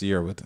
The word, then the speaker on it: Yearwood: But it's Yearwood.